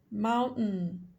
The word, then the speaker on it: mountain: Para vocês irem acostumando o ouvido de vocês a estarem entendendo a pronúncia norte-americana, que esse stop de T é bastante frequente. Curtain, curtain. Mountain, mountain.